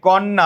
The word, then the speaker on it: কন্যা: লক্ষ্য করো, এই কন্যা উচ্চারণ করো, কন্যা ন দুইবার উচ্চারণ হয়েছে, যুক্ত বর্ণ, তার আগে নতুন আসছে।